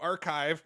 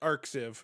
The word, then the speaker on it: arXiv: that a RX I I've always pronounced it arxiv but in the Ted Talk he pronounced it archive so I learned the correct pronunciation of that today so he was looking